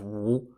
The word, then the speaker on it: Wu: For example, Wu in Wu Zishu and Wu in the kingdom of Wu, and they're also spelt differently as well in Chinese Hanzi characters.